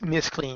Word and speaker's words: McLean: giant favor I'm I'm trying to get it to pronounce McLean because that's really what it is oh been I've been